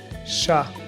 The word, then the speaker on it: chat: I mentioned this in my other videos, in French, final consonants are usually silent. For example, petit, chat, et.